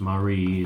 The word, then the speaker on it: Mary: It is Neuhaus Chocolatiers, spelled Mary, M-A-R-Y, but pronounced Marie is what we're told.